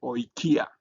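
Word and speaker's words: οἰκία: The next one is Oi, like in oil. So like in this word oikia.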